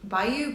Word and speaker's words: Bayu: Like, I think it's Bayou Bayu. It's B A Yu.